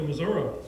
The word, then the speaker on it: Missouri: Professor Davis is originally from Independence, and I promised him I would pronounce it correctly, Missouri.